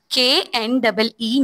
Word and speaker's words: knee: अच्छा, मैं अभी आपके सामने एक वर्ड पढ़ूंगी, मुझे बताइएगा कि उसमें कौन सा जो लेटर है वो साइलेंट है। नी, नी, जी, KNEE, नी। के, शाबाश। अच्छा, मुझे ये बताएं कि